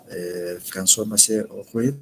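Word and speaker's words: François-Marie Arouet: Bueno, entre los pensadores de esa época, primero estaba François Macier Arouet, así es la pronunciación, más conocido por su seudónimo de Voltaire.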